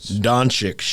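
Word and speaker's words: Dončić: do you say that name who could donate doncic yes the from the mavericks we both agree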